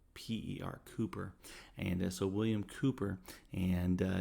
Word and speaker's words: Cowper: Now it's spelled Cowper, Cowper, but you pronounce it Kooper, Cooper.